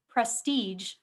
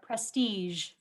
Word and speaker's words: prestige: Your word has two pronunciations, prestige or prestige.